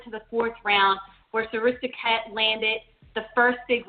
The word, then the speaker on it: Srisaket: So Srisaket, is that how you pronounce his name? Srisaket? Srisaket, yes.